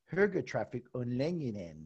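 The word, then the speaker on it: högertrafikomläggningen: is that again give it to me again burger traffic online yeah and that's a mouthful even for me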